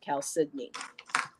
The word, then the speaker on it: chalcedony: There's an L in there. I mean, when you look at that, you don't think that's how you pronounce it, but it's pronounced chalcedony.